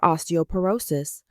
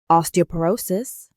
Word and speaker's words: osteoporosis: Example in a radiology report the patient has severe osteoporosis o r o s cis with tcore -3.2 too. Let's start pronounce again. Osteoporosis. Osteoporosis.